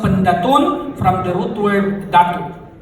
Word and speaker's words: Pendatun: Potter from the hood it is not pentacle it should be pronounced panettone from the root word